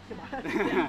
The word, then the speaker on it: Siobhan: And then, Siobhan. yeah, Siobhan. Then step in, please. The B is silent.